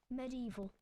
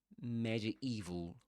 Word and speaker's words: medieval: Merlin, medieval, dates unknown. So, Merlin, medieval. That's a difficult word difficult word to pronounce. So, this is medieval medieval, right? Or medieval, you can say. Medieval or medieval.